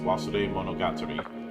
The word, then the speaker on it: Wasuremonogatari: the the name oh the name of the game is pronounced was monog it is a pun